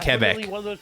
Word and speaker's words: Quebec: Oh, you're supposed to pronounce it Quebec. So that word would be Quebecois.